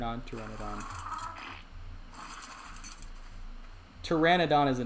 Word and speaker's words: pteranodon: me pteranodon terror okay i keep saying pterodon i don't actually i don't know why i i just i hadn't heard anybody pronounce it differently so in my mind it was fun it's just one of the things i haven't really thought about i mean it's pteranodon pterodon i mean it's either